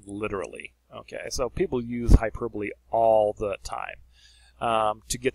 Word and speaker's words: hyperbole: All right, now let's look at hyperbole. You almost want to look at this like hyperbole, okay, but it's actually pronounced hyperbole.